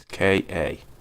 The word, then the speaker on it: Ka: Like over in Europe, they got the probably gonna say it wrong, but the Ford Ka. It's Ka.